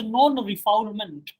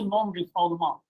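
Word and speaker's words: non-refoulement: French protection laws therefore English people are also pronouncing this particular word as per the French pronunciation and the French pronunciation of this word is a non-refall amount non-reformer means known explosion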